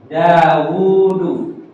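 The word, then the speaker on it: داود: enggak ada wau ya ini harus dibaca daudu jadi bacaannya begini ya da hu Ya dauu ini tapi secara penulisan harus begini kalau begini salah tapi cara bacanya ini dibaca begini dawudu ah inilah kaidah Al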